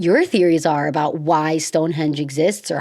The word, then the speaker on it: Stonehenge: So, this one is Stonehenge specific and it's Stonehenge. I feel like when I first heard of Stonehenge, I I was wondering if it was Stonehedge, I thought it was Stonehenge, but it's not a hedge, it's henge.